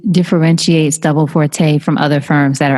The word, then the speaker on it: Forte: Is it pronounced Forte? Yeah, it is.